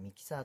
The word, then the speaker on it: Mixer: なんですけど mix er とか言ってミキサーと読むみたいなんです